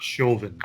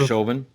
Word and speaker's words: Chauvin: forgot it happens by the way it's Derek Chauvin it's always say his name : Derek Chauvin former officer Darren right well so and then